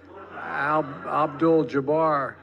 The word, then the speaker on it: Abdul-Jabbar: for each year for Muslim athletes like Kareem al-jabbar Abdul-Jabbar I know him and I said mispronounce his name okay in his defense that